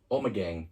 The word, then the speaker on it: Omegang: Omegang.